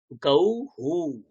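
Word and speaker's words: गौः: তাহলে এখানে কি হয়, এখানে হয়ে যায় হু। ব্যাস, এই 3টে জিনিস মনে রাখতে হবে। হু হয়ে গেলে উচ্চারণ কেমন হবে, গৌ হু, গৌ হু, এরকমটা উচ্চারণ হয়ে যায়।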